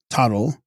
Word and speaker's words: Thödol: This doctrine and the Thödol doctrine, when joined together, being like unto a mandala of gold inset with turquoise, combine them. Text. Tag's Grol, pronounced Thödol, a small Tibetan work